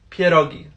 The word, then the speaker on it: pierogi: have the audacity to pronounce it pierogi broken it's pierogi say it with me now Pierre pierogi there you go literally every time